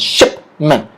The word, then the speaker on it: shipment: Shipment. Say it with me, shipment. Shipment. All right. So the stress is on the word ship.